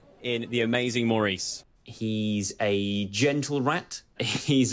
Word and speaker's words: Maurice: great debates isn't it is Maurice or Morris I don't know if it'll it'll ever really be settled um perhaps philosophers will be arguing over this for centuries to come how many times it's Maurice Maurice how do you pronounce